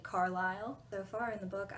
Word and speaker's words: Carlisle: learned how to say Carlisle so far in the book I had been pronouncing Carlisle's name Carsley because I thought that's how you said it baseball scene was really